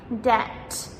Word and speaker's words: debt: So the general rule for the silent B is in words like debt, doubt, and subtle, the B comes before letter T. So we pronounce the T, but we do not pronounce the B.